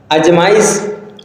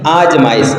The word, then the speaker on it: आजमाइश: शुद्ध शब्द होता है अजमाई अजमाई आजमाइश दीर्घ आ का प्रयोग करेंगे बड़ा आ का प्रयोग करेंगे आजमाइश शुद्ध शब्द है आहुति अब आहुति